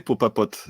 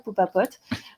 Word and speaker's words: Popapote: Et pas mal de consommateurs m'ont dit c'est quand même difficile à dire Popapote. D'accord. Donc on est d'accord, c'est sympa pour quand on arrive à le prononcer, faut juste aller lentement, Popapote.